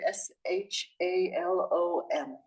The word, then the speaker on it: shalom: I would like to ask you how to pronounce the word s h a l o m that's a tricky one shalom shalom Shalom o